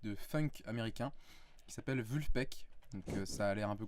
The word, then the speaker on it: Vulfpeck: groupe de musique de funk américain qui s'appelle vu le pecq ça a l'air un peu compliqué quand on prononce comme ça mais ça se prend vraiment